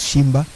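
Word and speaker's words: Tshimba: The T is silent. His name starts with a T. He pronounces it as Shimba.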